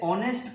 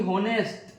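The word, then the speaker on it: honest: देखिए ऑनेस्ट, इसे ऑनेस्ट पढ़ा जाता है, ना कि होनेस्ट।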